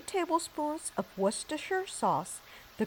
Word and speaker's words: Worcestershire: Then add 3 tablespoons of Worcestershire sauce. The correct pronunciation is Worcestershire.